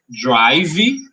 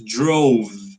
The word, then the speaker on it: drove: drove the car so remember that we don't pronounce the letter e it's not drivy and it's not drove drovie it's drove right drove repeat drove